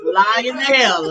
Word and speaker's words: Lionel: It's Lionel.